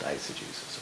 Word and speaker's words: eisegesis: I'm an autodidact, so I pronounce it the way it's spelled. It's spelled exegesis. It's pronounced eisegesis, okay?